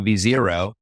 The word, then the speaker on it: v0: can I do instead I just went to V Zer and I actually kind of gave them this why it's spelled v0 version zero I kind of gave